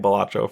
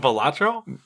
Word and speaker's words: Balatro: thing blew up, and he has clarified pronunciation. I am pronouncing it correctly, and clarified that it